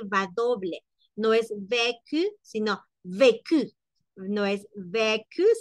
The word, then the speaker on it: vécu: Luego dice internacional, je vécu, entonación y pronunciación, acentuación. Vécu, no es lo mismo decir vécu, sino vécu, la mayor fuerza de voz está al inicio.